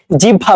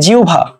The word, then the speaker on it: জিহ্বা: এই ওয়ার্ডটাকে কি বলি জিহ্বা বলি তাই না জিহ্বা ঠিক আছে জিহ্বা সো জিহ্বা না এটা এটা কি এটা হবে জিভা জিউ ভা ঠিক আছে এটা কিন্তু